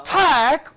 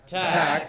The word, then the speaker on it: attack: Now, it is here the stem, the root that is to be stressed, not the weak prefix. For example, cross. Cove, go. Not ego. Go. About, but. Not about. About. Attack.